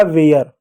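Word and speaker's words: where: जैसे डब्ल्यू का क्या हो गया? व हो गया। ए आर ई है तो ए का उच्चारण ए की मात्रा प्लस य के रूप में कर दो। आर है आर का र लिख दो। इ साइलेंट होगा। हो जाएगा वेयर।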